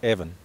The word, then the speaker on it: Avon: the dean's Brothers bringing the name Avon properly I think it's pronounced Evan the Evan River here